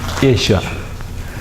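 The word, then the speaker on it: ܝܫܘܥ: So, Yeshua. But here this sound is silent.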